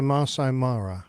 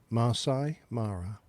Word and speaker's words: Masai Mara: I think it's the Masai Mara. is the way Okay. it's generally pronounced. How again? Masai Mara.